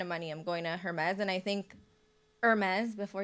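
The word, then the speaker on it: Hermès: Guys, I do speak French, so it's actually Hermes. If you really Yeah. want me to say it properly.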